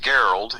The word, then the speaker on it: Gerald: It's like Gerald, only it's pronounced Geralt.